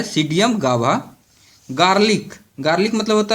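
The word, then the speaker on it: Psidium: सीडियम P silent हो जाता है, सीडियम गाभा।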